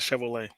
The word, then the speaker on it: Chevrolet: We pronounce that Chevrolet.